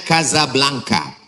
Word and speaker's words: Casablanca: Ibu kotanya tulisannya Casablanca. Cara bacanya Kazablanka.